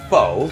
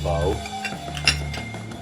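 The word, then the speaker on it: phở: It was a conversation starter, but maybe for if you understand the correct pronunciation of what we would say, I mean, pho. In Toronto, people say pho.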